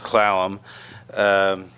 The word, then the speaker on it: Clallam: Sequim Washington and then the port gamble slaloms which was in those days pronounced Clallam over by Kingston where